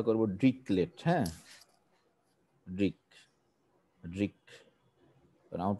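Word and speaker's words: Dirichlet: দিচ্ছি এটা খুব ইম্পর্টেন্ট এটাকে বলে হচ্ছে কি রিসেলেট বলে অনেকে কিন্তু আমি উচ্চারণটা করবো ড্রিক লেট হ্যাঁ ড্রিক ড্রিক কারণ আমার প্রফেসর ড্রিক লেট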